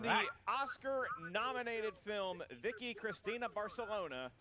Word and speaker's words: Barcelona: both pronouncing Barcelona wrong. It's Barcelona.